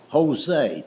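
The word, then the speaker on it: José: It's like the word Jose. The word Jose is J O S E, but it's pronounced with a H."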